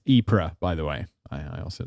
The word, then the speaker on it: Ypres: Is that the right pronunciation? Boche? Sure. Or maybe Boch, because it's... Yeah, it looks... Oh, and it's Ypres, by the way.